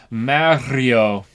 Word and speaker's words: Mario: pronunciation in Mario but everyone is wrong cuz you have to roll the r Mario there you go Mario uh parad didley